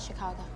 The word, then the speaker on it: Chicago: Outside Chicago. Emphasis on the second syllable. Borrowed from the French.